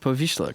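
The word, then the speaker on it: Powiśle: actual shop to interact with though and I pronounced poisha correct interesting good for me Pharmacy gauze package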